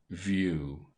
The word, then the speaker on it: view: in the words of this table ew and UE are pronounced very nearly like you long Hugh do stew Hugh pew mu View agu Jewel rescue sinew